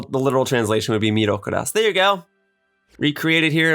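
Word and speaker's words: ミロカロス: it would be pronounced Milo Karas is how I pronounce it as the English-speaking American that I am but the literal the literal translation would be mirokuras there you go recreated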